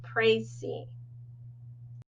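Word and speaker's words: précis: using this process and I know that it doesn't look like it's pronounced this way but it is pronounced crazy so your formal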